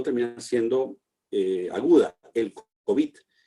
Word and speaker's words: COVID: estos últimos meses, que la pronunciación más extendida es COVID, es decir, una pronunciación aguda y no grave.